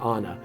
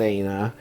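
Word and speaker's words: ܐܢܐ: it actually looks like it actually spells out anna but for whatever reason we pronounce it aina and that's just what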